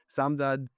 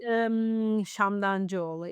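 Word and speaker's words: Samdancıoğlu: Samdancioglu. Huh? Actually, it's Shamdancioglu. It's Turkish, and even in Turkish, it's very hard not to pronounce, but maybe to write.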